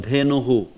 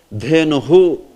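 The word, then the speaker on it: धेनुः: Similarly, if it was long one, Dhenuhu, you know, how will you pronounce this? Dhenuhu. That, see, end is long one, na? So you will say Dhenuhu. Dhenuhu. These end ones get into H and then it becomes hu. Dhenuhu.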